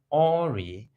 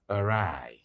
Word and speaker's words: awry: So that word is not Ori, but awry, to go wrong.